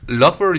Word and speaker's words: Loughborough: Loughborough. ¿Cómo sería? Loughborough University. Loughborough University. ¿Más o menos lo he dicho bien? Sí. De hecho tiene varias pronunciaciones, ¿no? Para los locales es el borough.